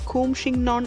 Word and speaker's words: Coumshingaun: to pronounce this word Few of my friends corrected me and said the correct pronounciation as : "coo-m-shin-gawn " If you like